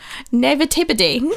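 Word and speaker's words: naïveté: And how is that word pronounced, Sarah? Naivete.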